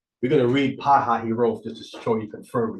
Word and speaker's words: Pi-hahiroth: So you have Pi-hahiroth or Pi-hahiroth, depending how you want to pronounce that H-I one. But it's Pi-ha-hi. They pronounce it, scholars pronounce it Pi-hahiroth.